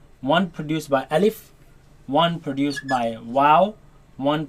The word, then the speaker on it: ألف: Now this letter you are to pronounce it fast. Do not say Alif and do not say Alif. Say Alif.